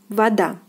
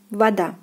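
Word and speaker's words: вода: Here we have stress on the second syllable as well, and the word is pronounced as voda, voda, voda, voda. So O is pronounced as A, voda, voda, voda.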